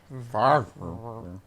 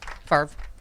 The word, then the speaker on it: Favre: It looks like it should be a 2-syllable name. Right. But it's only a 1-syllable word.